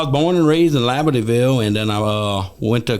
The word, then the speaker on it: Labadieville: Am I pronouncing it right? Labadieville? Labadieville.